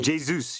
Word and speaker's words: Jesus: It's not he he's Brazilian. Jesus. Jesus. You You got to say it like you're an Irishman and then you'll get it spot on.